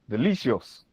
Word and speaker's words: delicious: We can also have delicious delicious. Here you realize that the stress is on the second syllable.